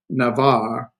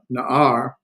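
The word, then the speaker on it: נער: And young man, Navar, Naar, because that is an ayin. This ayin has no pronunciation, so you got na, ar, Naar, young man.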